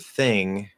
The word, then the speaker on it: thing: as you know you learn the word thing and then you just remember okay it has a voiceless th maybe you practice a